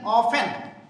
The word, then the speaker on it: often: हाउ ऑफन, OFTEN, ऑफन, T silent.